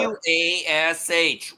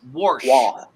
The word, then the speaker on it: wash: Is there It's an R? W-A-S-H. Warsh. Wash. Do you know how hard it is for someone like me to say that? Wash. Paula? Paula, what is the Yeah. correct pronunciation? Wash.